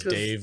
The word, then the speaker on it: Dev: No, it's pronounced Dave. It's definitely Dave.